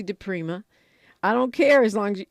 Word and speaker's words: DiPrima: then radio I know you all like to call me dpri but it's actually de Prima I don't care as